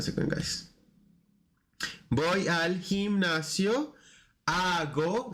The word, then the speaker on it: hago: Hago, remember the H is silent, hago ejercicio o hago ejercicios, both work.